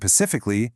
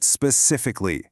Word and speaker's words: specifically: You aren't doing something pacifically, you're doing it specifically. Really hit that S sound right at the start.